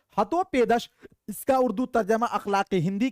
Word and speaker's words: हितोपदेश: कृष्ट किसने लिखा तो चूंकि देखिए हितोप हितोपदेश हितोपदेश अच्छा आदिती राज हितोपदेश हां ठीक है हितोपदेश ठीक है ये प्रोनाउंस ध्यान दीजिएगा साथियों अगर आपको कोई पूछ